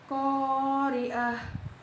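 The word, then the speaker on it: القارعة: Huruf qamariyah di sini ialah qaf. Cara membacanya yaitu lamnya dibaca jelas. Qari'ah, alif lam ini huruf qamariyah, lamnya dibaca jelas.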